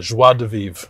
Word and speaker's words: joie de vivre: And he's got a joie de vivre about him that I really appreciate.